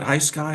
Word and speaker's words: Hisky: I guess do you call it High Sky or Hisky? High Sky. Okay. I've heard other people pronounce it other ways.